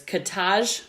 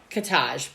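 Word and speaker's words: Katahj: butchered their name earlier so it's kataj Copley it's k-a-t-a-h-j c-o-p-l-e-y so I believe it's katage so my my apologies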